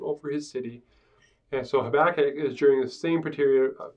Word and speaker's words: Habakkuk: Habakkuk we're gonna call Habakkuk because that's how you pronounce it in Hebrew okay the short and